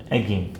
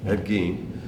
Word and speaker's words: Ed Gein: How do you pronounce the name? Ed Gein. Ed Gein.